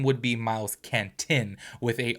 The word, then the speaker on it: Canton: name would be miles Canton with a o at the end so not caner it's Canton so cuz I literally